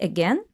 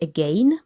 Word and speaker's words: again: So first of all, this word has 2 pronunciations. You can say again or you can say again. Both are correct.